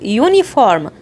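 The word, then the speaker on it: uniform: اجيب قبلها اه طيب زيها بالظبط يونيفورم يونيفورم يعني زي موحد برضه قلت يو يبقى ده صوت ساكن يبقى اقول ايونيفورم اما لو قلت امبريلا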